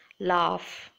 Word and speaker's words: laugh: must have come across laugh rough where you have to pronounce it as F in the end next look at the